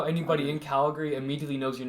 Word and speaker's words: Calgary: It's spelled, yeah, but It's spelled Cal and then Gary, but Calgary. Calgary. like Calgary. yeah, Calgary. Calgary. There, that's how you say it. Like degree. Calgary. Imagine it's R-E-E.